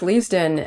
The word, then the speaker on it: Leavesden: next year over at Le leaven am I pronouncing that correctly correct leavesden and uh it sounds like you know they've